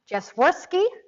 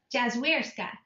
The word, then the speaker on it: Jazwierska: Today I am super excited to introduce you to my new friend, Jasworski. Did I say it correctly this time? Jazwierska.